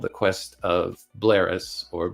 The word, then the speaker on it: Bleheris: called the quest of blaris or bleris I don't know how you pronounce that I'll just say blaris because I think that the hes silent um Lewis had also